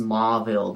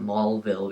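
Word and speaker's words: Mauville: reminds me of a maul it's it's it's pronounced mville but my friend calls it mulville because of it but that's not but just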